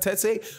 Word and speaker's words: Tete: He could be, him and Zolani Tete, that's how you pronounce it, Tete.